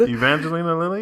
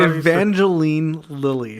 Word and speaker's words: Evangeline Lilly: Evangelina Lilly? Is that Evangeline Lilly?